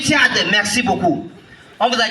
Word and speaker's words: Tchad: Ce pays, on ne prononce pas comme ça, s'il vous plaît. Je viens du Tchad.